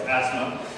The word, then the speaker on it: Asmae: There are a lot of other variations out there, but I confirm that that is the correct pronunciation of her name. So it's Asmae.